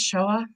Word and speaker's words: Shoah: pronounce that word? Just Shoah.